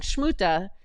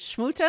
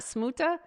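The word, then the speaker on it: Смута: is it it's is shmuta not smuta it's like shmuta but it was kind of like somewhere in between it wasn't really that harsh shmuta it was it was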